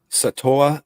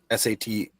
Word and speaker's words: Sataoa: Satoa Lamaya. Sataoa Laumea. I think it is Sataoa. They love to they pronounce like every vowel in there.